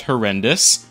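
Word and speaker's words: HoRNDIS: First off, it's apparently pronounced horrendous.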